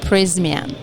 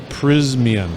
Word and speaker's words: Prysmian: Prismian. Prismian.